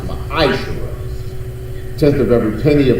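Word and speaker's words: מעשר: It means 10th in the Hebrew and is pronounced ma'ashera.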